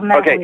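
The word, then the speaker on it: Menehune: Are they the Metahuni? Is that how you pronounce it? Yes, they're the Metahuni.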